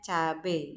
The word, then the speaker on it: cabai: Jadi misal contohnya itu ada cabai, tulisannya itu CABAI, tapi aslinya kita membacanya cabe gitu kan.